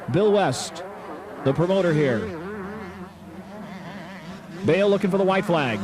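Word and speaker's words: Bayle: Some guys, especially from the South, pronounce it Bale. Mike Bale. It's Bale, and he is on the gas, lapping another rider.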